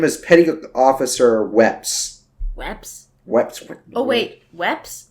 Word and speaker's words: Weps: Oh, her name is Petty Officer Weps. Weps? Weps. Oh, wait. Weps? No. Cora Weps Rakes. Reps. It was an R. No, we had subtitles on. No, it's Weps, according to this.